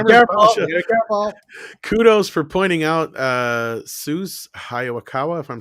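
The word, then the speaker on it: Sessue Hayakawa: Let me pronounce it correctly. It's Sesue Hayakawa, and forgive me, anyone who speaks Japanese, because I don't speak Japanese.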